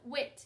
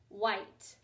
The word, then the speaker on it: white: white that's very important it's not wit it's light white there are a few words with that super silent e we're going to do